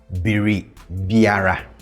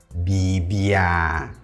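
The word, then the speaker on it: biribiara: So the next indefinite pronoun we have Beribiera. Beribiera. Beribiera. Beribiera. And if you think this is difficult to pronounce, don't worry. In natural speech, we'll mostly say this as Bebiera. Bebiera.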